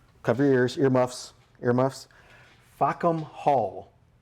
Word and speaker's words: Fackham Hall: cover your ears, earmuffs, Fackham Hall. Now, the title is how it's spelled correctly, but if you kind of say it fast, you might be able to tell what it is saying.